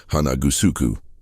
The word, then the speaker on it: Hanagusuku: Likewise, the renowned karate master Chomo Hanashiro came to use the standard Japanese pronunciation Hanashiro, rather than the original Okinawan reading Hanagusuku.